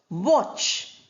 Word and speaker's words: watch: Here are six examples now where the letter T is written in the spelling but is not pronounced. You have the word watch.